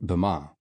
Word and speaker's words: Bama: By the 17th century, the word was colloquially pronounced Bama.